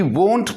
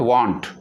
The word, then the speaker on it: won't: Will not, the contraction form of will not, we can use won't, not want. Please make a note. We should pronounce it won't.